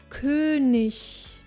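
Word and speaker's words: König: Fiat Fiat meaning horse only at the end of a word sounds more like ish as in the word kunish Kunis meaning King last but not least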